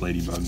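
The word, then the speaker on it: Ledybug: It's supposed to be pronounced Ladybug, but it's like LED bug.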